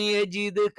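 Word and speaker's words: يجدك: അലം യജിദ്ക, അലം യജിദ്ക, യ എന്ന് തന്നെ ഉച്ചരിക്കണം. യേ എന്നുള്ള ഉച്ചാരണം എന്തില്ല? അറബിയിൽ ഇല്ല.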